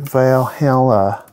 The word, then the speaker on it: Valhalla: chamber a chamber vibe like veil hella yes that's how valhalla is pronounced by the way but let's just go